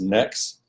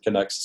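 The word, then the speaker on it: Knex: different people talk about the connect system as next because in the English were used to pronouncing KN as a the K is silent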